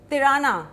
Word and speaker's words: Tirana: It rhymes with Kirana, so it is Tirana.